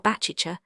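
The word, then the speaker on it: Baciccia: John with the city, great numbers of the common people are christened Javanni Baptista, which latter name is pronounced in the Genoies Patwa Bachicha like a sneeze.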